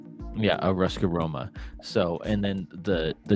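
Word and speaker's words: Ruska Roma: Ruskaroma. Yeah, a Ruskar Roma.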